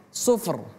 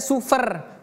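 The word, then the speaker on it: صُفْر: suf ar suf ar sufr sufr sufr kaannahu jimalatun sufr oke kaannahu jimalatun sufr sufr jadi di sini tidak kita baca sufer bukan f tapi suf ar suf r ada fa suf baru suf.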